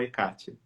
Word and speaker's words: Hecate: Inclusive a própria pronúncia Hecate ou Hecate. Isso, Hecate, Hecate, Hecate, Todas essas são consideradas corretas.